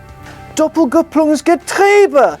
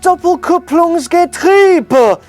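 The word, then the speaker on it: Doppelkupplungsgetriebe: our retrospective of the Mark 1 Porsche Cayman Dopp gong's gber is pronounced Dopp kung's gri not gber that's me told then I'll stop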